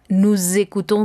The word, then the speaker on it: nous écoutons: van a estar obligados a hacer uso de esta S para llegar a la vocal que tengamos enseguida. Entonces, esa es una unión obligatoria. Entonces, el sonido será nous écoutons de la musique, vous écoutez de la musique, ils écoutent de la musique, elles écoutent de la musique. Entonces, aquí tendremos la unión de la S con la vocal.